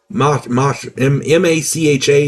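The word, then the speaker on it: Mácha: In 1836, the Czech poet Karel Hynek, let me get his name right, Karel Hynek, M-A-C-H-A, and the accent is on the first A, so I'm going to say Macha.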